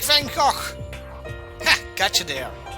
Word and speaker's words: Van Gogh: I am like Van Gogh. Ha! Gotcha there. I pronounced it correctly because I'm Belgian. All you guys would say Van Gogh or something.